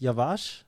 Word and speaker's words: Yavaş: your last name pronounced yavash yeah yavash yavash uhuh so you pronounce really good by the way so so the emphasis is on the first a or can you say it again K Yash yavash okay